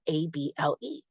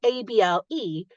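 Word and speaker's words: -able: With the suffix able, we actually pronounce it able, with that sneaky schwa popping out.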